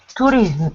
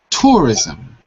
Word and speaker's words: tourism: responsible for Mass T tourism how do you pronounce this word tourism touris to you have to say rism tourism tourism that's right ton okay so would